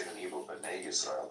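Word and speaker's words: בני ישראל: B'nai Israel, not Bani Israel.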